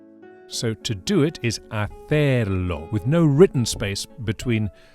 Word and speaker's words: hacer: So the common little verb to do in Spanish is hacer, giving extra weight to the last syllable, stressing the er, and being careful not to pronounce the H, all H's in Spanish being silent. Hacer.